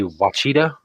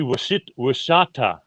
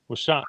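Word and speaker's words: Ouachita: Oh, I would say Wachita. Yeah, that's kind of how we were doing and I was pronouncing it. But it's actually Washata. Washata. It's an SH. It's a W, SH, and then ta.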